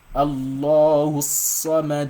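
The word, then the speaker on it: الله الصمد: So the saw here, for you to be able to pronounce shadda very well, you've got to assume that you're pronouncing 2 swords.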